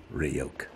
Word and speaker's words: Ryuk: It's pronounced Ryuk.